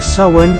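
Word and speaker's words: Samhain: mga kultura ang sinaunang piyesta ng celtic ng sawen o s ang pronunciation ang mga kelt ay isang pangkat etniko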